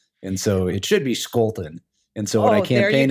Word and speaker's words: Scholten: my last name we we pronounce it the German Way when it's actually Dutch and so it should be Scolton and so when I